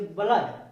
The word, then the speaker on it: blood: जैसे ब्लड, ब्लड में आ का उच्चारण आ रहा है, आ का उच्चारण आ रहा है, ब्लड।